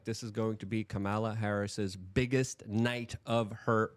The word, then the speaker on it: Kamala: Kamala. It's really easy. Communist, Kamula. That's how you remember.